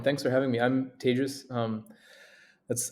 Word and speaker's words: Tejas: for having me I'm tagious um that's I tell people it's pronounced like contagious um it's easier to